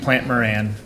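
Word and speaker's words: Plante Moran: Just to clarify, I think it's pronounced Plant Moran.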